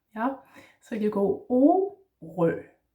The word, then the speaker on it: Orø: Yeah, so just like before, you go, instead of A, you go O, and this letter is very round, just like the letter itself. And in Danish, the O in Danish is not O, it's O, yeah? Just like if you're singing O, O, O, like that, yeah?